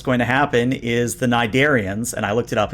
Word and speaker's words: Nidarian: the good news is that since you succeeded so well, what's going to happen is the Nidarians, and I looked it up, it's pronounced Nidarian according to Memory Alpha.